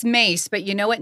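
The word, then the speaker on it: Myss: do what like Carolyn miss mice it's pronounced mace but you know what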